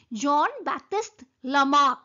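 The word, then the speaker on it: Jean-Baptiste Lamarck: you are pronouncing it you are writing Jean but you are pronouncing John John Baptist lamak so this is the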